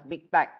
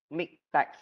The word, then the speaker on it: MiKTeX: So again, this is pronounced as MikTeX, not as MikTeX, okay?